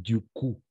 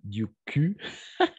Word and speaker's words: du coup: la prononciation attention avec du coup on va prononcer du coup pas du cul parce que c'est une autre chose d'accord du cul et